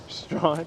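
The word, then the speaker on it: Strachan: that s t what s-t-r-a-c-h-a-n strapping it's strong strong that's probably the hardest one because you're never going to guess that if you haven't heard it oh that people will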